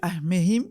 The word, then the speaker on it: Ahmeyim: Est-ce que tu peux expliquer rapidement ce projet, donc Grande Tortue Ahmeyim, c'est comme ça que ça se prononce, je crois.